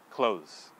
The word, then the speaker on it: close: the simple example here is the word close okay so if you see it on your screen you know most students at least here in japan are tempted to say clothes closes because when you look